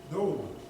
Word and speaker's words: Noam: Noam.